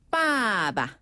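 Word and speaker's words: 爸爸: 우리가 아빠라는 표현은 중국어로 빠바 빠바 그렇죠 위에서 아래로 뚝 떨어지게 빠바 빠바라고 해요네 아빠 할 때 그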